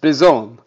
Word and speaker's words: Spizzone: SP, like the pizza, like the Pizza Hut Pizzone, except with an S. Spizzone.